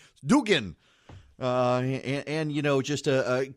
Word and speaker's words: Dugan: hope the Senate Majority Leader appreciates my proper pronunciation of his name Dugan and you know just to commend him again